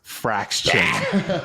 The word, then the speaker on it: Frax Chain: I think you're just teasing a question, an answer out of me, and it's rhymes with Axe Chain, and that is Frax Chain, right?